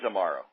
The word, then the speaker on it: Amaro: family Santos Amaro and I am pronouncing your last name correctly am I not tomorrow yes it is Amaro okay had it not